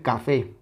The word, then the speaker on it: café: palabra que puede ser café café Okay esta tiene dos sílabas ca fé Cuál es la silaba tónica evidentemente la última café es la que suena más fuerte si le quitamos